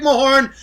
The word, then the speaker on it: Mahorn: times five now listen rick mahorn it is muhorn it's spelled m-a-h-o-r-n the reason i'm talking